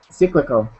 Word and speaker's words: cyclical: can you see that cyclical so that is pronounced just um again instead of that e sound it's I so cyclical ccal one more time cyclical good